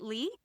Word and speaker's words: Lih: Is it Lih?